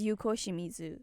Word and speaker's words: Yuko Shimizu: screw up in him is that how you pronounce it yes Yuko Shimizu okay gens fluent in Japanese by the way